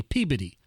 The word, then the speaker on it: Peabody: in the northeast called peabody um but apparently the pronunciation and the emphasis on the syllable is incorrect it's actually peabody and so uh there's